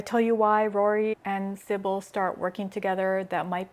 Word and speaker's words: Sybil: So Sybil, I think that's how you pronounce it, Sybil, S-Y-B-I-L, Sybil, or FMC, meets the MMC Rory, the brooding, smudged eyeliner, angry knight.